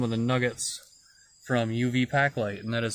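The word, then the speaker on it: Paqlite: powder and some of the nuggets from UV Packlight, and that is spelled UV Packlight is spelled P-A-Q-L-I-T-E, and they make glow-in-the-dark powders for all kinds of things.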